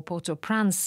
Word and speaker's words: Port-au-Prince: And it's language that residents of Haiti's capital, Port-au-Prince, or Port-au-Prince, as they would pronounce it, would be familiar with.